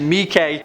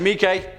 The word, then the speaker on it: Miike: 1 of this list, I pronounced Takashi Miike as Takashi Mike, and I'm sorry. Genuinely, but I've actually been pronouncing it Mike for like over a decade now, so thanks for the heads up, I guess.